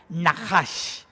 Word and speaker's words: nahash: Mira, la palabra que se traduce serpiente en hebreo se pronuncia nahash. ¿Lo pueden repetir conmigo? Nahash.